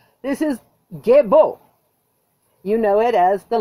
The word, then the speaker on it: Gebo: This is Gebo. You know it as the letter G. It's pronounced G, as in gift.